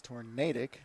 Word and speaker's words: tornadic: I did not think tornadic. Or tornadic. Or tornadic, sorry. It is tornadic. We even went with the correct pronunciation.